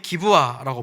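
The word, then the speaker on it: גבעה: 이 산이라고 번역한 이 단어는 히브리어로 어떻게 읽냐면 이렇게 읽습니다. 기브아라고 읽습니다.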